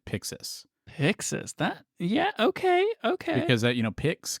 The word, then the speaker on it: Pyxis: Yeah, I mean, so it's spelled PYXIS, and they have it in capitals. So you're probably supposed to shout it, but I mean, when I see it, I pronounce it Pixis.